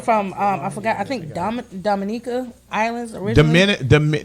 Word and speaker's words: Dominica: I think Dominica Islands originally. Dominica.